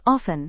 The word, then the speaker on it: often: Next comes often. Hindi mein iska matlab hai aksar. It is pronounced as often instead of often.